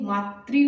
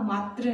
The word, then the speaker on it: मातृ: एक शब्द और हम देखते हैं ये मातृ होगा, मात्र नहीं, मातृ।